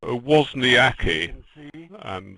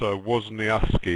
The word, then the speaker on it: Wozniacki: Anyway, it's Wozniacki, is it? Is that how you say it? And in Poland you would say that, but we also say Wozniacki in Denmark, and that's how she pronounces it herself.